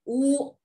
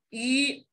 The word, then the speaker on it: 吁: 哎，它头上的两点省去了，所以说老师不能把它读成这个乌，而应该读成吁。